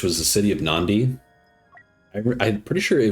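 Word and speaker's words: Nadi: was the city of Nandi. I I'm pretty sure it was spelled N A D I, but it's pronounced Nandi. Like there's an N before the D.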